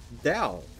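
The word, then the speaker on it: Dahl: A Dow one. Yeah, that's... What did you just call them? Dal. They're called Dal.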